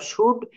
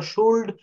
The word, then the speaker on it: should: আমাদের lesson use অফ শুড অ্যান্ড উড। ভুলেও কিন্তু কেউ কখনো শুল্ড অথবা উল্ড বলবেন না। কেন বলবেন না? এই এল হচ্ছে এখানে সাইলেন্ট লেটার।